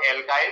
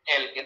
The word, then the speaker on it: alkyl: Heptyl, octyl, नोनिल, डेकिल, या तो Hindi pronounce करें या फिर इंग्लिश प्रोनाउंस करें तो एल्काइल, तो हिंदी में एल्किल।